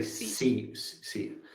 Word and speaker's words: Xi: Yeah, so moving to this soybean complex, last week, Donald Trump met the Chinese President Xi, I think it's called. Was the I think you say C.